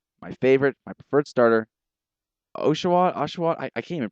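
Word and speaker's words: Oshawott: And it's that it's a double T at the end, the very hard T. It kills the cuteness because you I mean otter. Otter is a cute word, but it's got that sound at the end. It's a softer sound, but that there's a but those double T's, it's a hard t.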